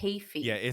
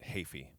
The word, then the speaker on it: Heafy: Kiichi Yeah, Heafy. it's a Okay. tricky. The middle and last names are tricky, but Heafy, even though it's not spelled like Heafy.